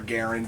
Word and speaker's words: Garand: so from the m1 garand or garand if you want to pronounce his name properly in canadian that's that's that's the